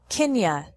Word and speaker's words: can you: at work right now can you sounds like Kenya can you give me